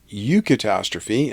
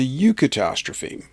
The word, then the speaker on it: eucatastrophe: And from Wikipedia, eucatastrophe, and that's just spelled like catastrophe but with an EU in front of it, is a term coined by J.R.R.